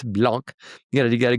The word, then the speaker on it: Blank: That's why it's not pronounced blank. It's blanc.